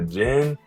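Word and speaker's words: Jhin: type his name is Jen but it's spelled j-h-i-n I didn't [ __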